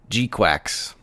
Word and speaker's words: GQuuuuuux: called Mobile Suit Gundam gqu it's spelled very oddly I believe it's GQ and then six U's and then an X wow that title took